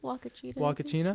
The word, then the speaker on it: Huacachina: How do you pronounce it? Huacachina.